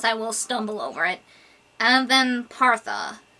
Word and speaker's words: Avempartha: Avempartha. Avempartha.